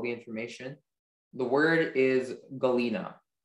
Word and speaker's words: galena: The sentence is, Sandra bought a nice specimen of cubic galena mounted on a stand. Galena. Galena. Are there any alternate pronunciation? There's just the one, galena. Okay, galena.